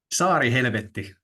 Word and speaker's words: Saarihelvetti: What's the right way to pronounce it? SaariHelvetti, the Island of Hell Festival.